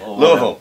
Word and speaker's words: Louisville: Louisville, yeah, it's like two syllables or so. Yeah, you kind of swallow it when you say it.